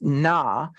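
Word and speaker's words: נא: It's pronounced na, and it is the noon aleph, and it says, I acknowledge your authority, but do this now.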